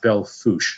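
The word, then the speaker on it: Belle Fourche: quickly DJ about the bell food it's pronounced Bell foosh South Dakota the local pronunciation yeah I realize that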